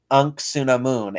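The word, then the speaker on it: Anck-su-namun: like something it just it sounds like a knuck because it's said really quickly but it's unksuna moon a n whatever angst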